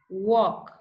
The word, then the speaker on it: walk: time Amand salmon have walk talk would okay so remember these are silent L words you don't pronounce the letter L like this we have